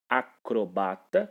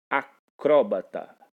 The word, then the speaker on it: acrobata: É o caso de acrobata, que pode ser assim pronunciado, sem acento, ou ainda o termo acróbata. Fica a seu critério dizer acróbata ou dizer acrobata.